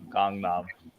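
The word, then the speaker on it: Gangnam: Style right big yeah don't pronounce it like the English word gang it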